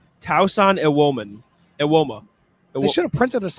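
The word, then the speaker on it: Tosan Evbuomwan: How you pronounce it is Tausan Ewoma.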